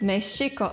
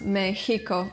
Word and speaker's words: Mexico: This is a single sound T, and this is actually pronounced as Sh. So the country's name is Mexico actually, not Mexico or Mexico.